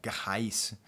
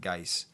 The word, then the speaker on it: Ghais: I was kind of wondering if it wasn't pronounced like an Arabic way, like Gais, but I think it's just Gais Guevara.